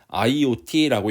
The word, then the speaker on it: IoT: 이건 이제 LOT나 뭐 숫자 1, 뭐 0T 이게 아니라 IoT라고 읽어야 돼요.